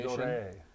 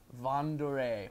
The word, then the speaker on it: vin d'or: If slight correction in the pronunciation. Vin d'Or. Vendore. That's just because the English. tastinger manager, big old Frenchie, and every time I say Vendore, he gets after me. No, Von.